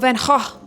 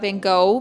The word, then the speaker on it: Van Gogh: me find out about Van Gogh. And by the way, his name is not Van Gogh because it's German. It's actually pronounced Van Gogh.